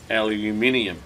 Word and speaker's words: aluminium: Here in Australia, we refer to this piece of metal as aluminium.